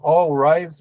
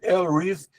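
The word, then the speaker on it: Al Ries: Algumas pessoas aqui no Brasil falam All Rise, mas a pronúncia inglesa é El Reis.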